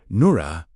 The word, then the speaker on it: Noora: Noora, pronounced N O O R. Let the R carry a slight vibration, not a hard R, but a living one.